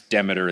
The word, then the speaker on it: Demeter: And then they even did specific things where like the reason I say Demeter and pronounce it that way is they found that it's rare to pronounce Demeter that way, but their interpretation of Demeter is very different than like classic Demeter.